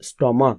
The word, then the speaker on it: stomach: যদি দেখা যায় সিএইচ এর উচ্চারণ চ না হয়ে ক হয়, তবে কিন্তু তারপরে শুধুমাত্র এস যোগ হবে। যেমন ধরো মনার্ক, মনার্কের সঙ্গে শুধুমাত্র একটা এস যোগ হবে। কিংবা স্টমাক, STOMACH, স্টমাক, স্টমাকের সঙ্গে